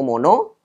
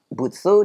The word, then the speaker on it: 物: ongyomi motsu ya jadi Sudah ada semua ya cara baca yang kuning yaitu mono jadi lebih banyak dia dipakai memang kuyominya banyak dipakai ya ada kata-kata yang tadi Kun yopinya mono kemudian ongyominya ada dua butsu dan mod ini sudah tadi saya kasih beberapa